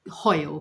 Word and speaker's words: Hoyle: It's a tricky surname. It's actually Hoyle, Hoyle.